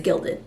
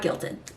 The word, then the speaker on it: gilded: right probably not gildan i think it's gilded not guilted um gilded glamour which